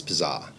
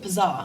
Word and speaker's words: PZZA: No, the name of the restaurant is Pazah. So, just drop the eye from pizza. And this one confuses a lot of people as well. That's how you say it. Pazar. Pazah.